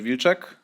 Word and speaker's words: Wilczek: I guess Mach already said everything, but hi, I'm Vuechek, or you can call me if that's easier for you to pronounce.